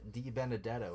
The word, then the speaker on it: DiBenedetto: death I'll say it right I promise Matt DiBenedetto was just there with his new team Team